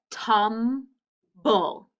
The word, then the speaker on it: tumble: We hear the blend, but that E we don't hear.